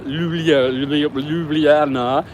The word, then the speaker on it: Ljubljana: Lake Bled, for example, Ljubljana, the capital of Slovenia.